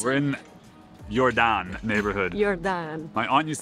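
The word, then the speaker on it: Jordaan: now we're in our favorite neighborhood can you pronounce it we're in yordan neighborhood yordan my aunt used to live here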